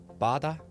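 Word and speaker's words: 바다: is korea obviously but why wouldn't it pronounce it bada see your ocean bada see your ocean everybody say it with me bada bada yeah i knew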